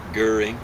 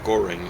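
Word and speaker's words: Göring: guy who' take over Herman guring or Goring as we mispronounce it and then uh Rudolph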